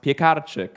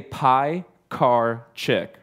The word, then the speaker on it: Piekarczyk: My last name is pronounced Piekarczyk. But in the States, that's really hard for people to say. So we say pie, car, chick, right? Pies, cars, and chicks, all stuff that we like, right?